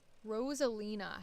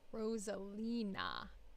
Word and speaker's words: Rosalina: isn't quite cyclical um Rosalina have I been spelling her name wrong oh I've been saying rosalin instead of Rosalina so I actually should rename this file so they don't think I'm rude Rosalina more why it